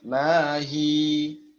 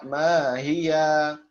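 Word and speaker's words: ما هي: Tulisannya kan mahia ya. Maka kita sesuai dengan apa yang sedang kita bahas, bait ke-40, maka kita membacanya mahi. 2 harokat. Pertama disukunkan terlebih dahulu ya aslinya. Mahi. Tidak dibaca mahia. Tidak dibaca mahia. Ya, tidak dibaca mahia. Tidak dibaca ya lagi.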